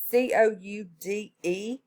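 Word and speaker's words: coudé: It's C-O-U-D-E. Is how it's spelled.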